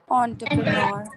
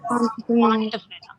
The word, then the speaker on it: entrepreneur: Entrepreneur. Entrepreneur. It's not entrepreneur. That is why I wanted you people to pronounce it's entrepreneur.